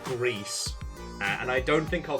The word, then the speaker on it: Gris: now found out that Gris is supposedly pronounced gree and I don't think